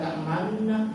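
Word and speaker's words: تأمنا: Membacanya mulut dimonyongkan, seperti mengucapkan waw. Dia baca di situ la ta'manna, tulisan isma.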